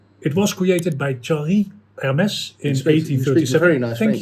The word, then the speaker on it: Hermès: Hermes or Hermes. I prefer the French pronunciation.